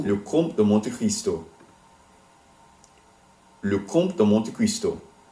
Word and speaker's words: Le Comte de Monte Cristo: Le Comte de Monte Cristo. Le Comte de Monte Cristo.